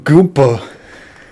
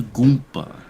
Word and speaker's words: Goomba: in Smash before Goomba why are you call him goopa he's a Goomba that's how you say it that's the original word